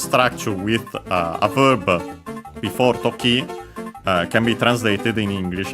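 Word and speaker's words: 時: Noun which is toki, accented on the last syllable, means it's a strictly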